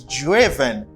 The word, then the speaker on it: driven: joe for it's preterit but the past participle is driven you don't pronounce i as i here you say hey you say driven driven driven drive job driven